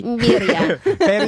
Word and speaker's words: birria: you have to say burry. Birria. Why can't we just say burry tacos? Why do we have to? I mean, you I pronounce can. it Beria.